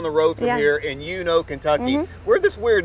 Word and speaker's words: Uno: Uno, yeah. not Uno. No, no, Uno. Yeah, that's it.